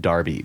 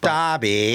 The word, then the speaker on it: Derby: The English one is pronounced Darby. Darby.